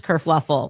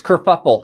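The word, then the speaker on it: kerfuffle: Prince Harry abdicates England causes this whole race kuruffle. Oh no, that's it's kurfuffle.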